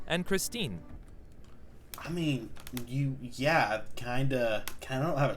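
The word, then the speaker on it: já: hello in Icelandic is pronounced Hollow thank you is talk yes is yeah no is nay goodbye is bless bless 14.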